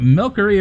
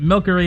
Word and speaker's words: Milcery: I'd rather pronounce it with the hard C sound for the, so it's more like milk.